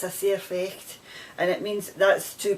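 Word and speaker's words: sair fecht: it's are we saying and it's it's a c effect and it's spelt it's uh an s-a-i-r f-e-c-h-t it's a surfex and it means that's too bad that's life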